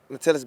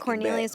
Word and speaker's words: Cornelius: Matellis Bennett. Mhm. I'm just going back. Cornelius Bennett.